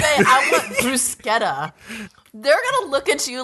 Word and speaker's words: bruschetta: But it's actually funny because like a lot of Americans, even Italian Americans, will say bruschetta, which is incorrect. It is not the right way to say it.